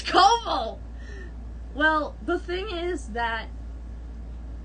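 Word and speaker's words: Coville: to pronounce his name it's not kaval it's kobol it's koval well the thing is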